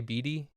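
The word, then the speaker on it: Bede: So it's like a straight through B, like the second E makes the first E a long E, the way it's supposed to be pronounced.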